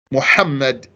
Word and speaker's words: Muhammad: He's not pronouncing the ha, letter ha. Muhammad, very important.